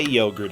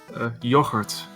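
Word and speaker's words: yoghurt: how do you say yogurt in Dutch yogurt yogurt yeah the G is pronounced differently in Dutch okay it wouldn't be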